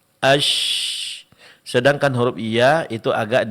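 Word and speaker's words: ش: Sedangkan huruf syin itu sedikit direnggangkan asy.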